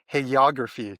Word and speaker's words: hagiography: And her research specialisms include late antiquity and Byzantium, and also something very interesting called hagiography. Did I pronounce that correctly?